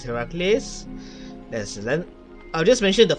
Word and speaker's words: Heracles: You see, I'm supposed to pronounce this Heracles.